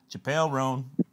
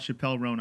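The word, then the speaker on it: Chappell Roan: little riff uh where I was saying uh Chapelle Ron like Chappelle Show Chapelle chel rone but then somebody point out it's not pronounced that way I can't do it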